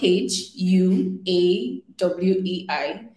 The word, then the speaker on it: Huawei: v like it's spelled h u a w e i now you don't pronounce the h and you pronounce it as like w it's like huawei yeah